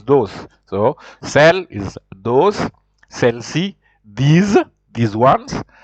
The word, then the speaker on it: celles: It is written with S, but you just pronounce it as if you don't.